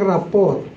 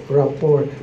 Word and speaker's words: rapport: Parang rapport. Hindi binibigkas ang T.